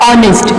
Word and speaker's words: honest: The word honest start with the vowel with the consonant letter H, but in this word the H is silent and the word start, the pronunciation of the word start with the O. O is a vowel.